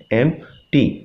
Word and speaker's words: empty: Career, is एम्प्टी, EMPTY, एम्प्टी। इसमें P जो है आपका ये साइलेंट होगा, इसे नहीं बोलेंगे, लेकिन जब स्पेलिंग लिखेंगे तो फिर ये लिखा जाएगा।